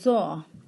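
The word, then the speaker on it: ظ: And Toy will be pronounced as Taw, and Zoe will be pronounced as Zaw.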